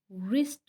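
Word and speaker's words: wrist: अब रैप में भी आप देख सकते हैं कि डब्ल्यू जो है वो साइलेंट है और रिस्ट में भी डब्ल्यू साइलेंट है। रैप्ड इसमें भी डब्ल्यू की साउंड नहीं आ रही और रिस्ट में भी डब्ल्यू की साउंड नहीं आ रही, ये दोनों साइलेंट लेटर हैं।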